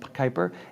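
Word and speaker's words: Kuiper: one second here uh the project is Kyper Ki p r spelled Kyper or pronounced Kyper and that is their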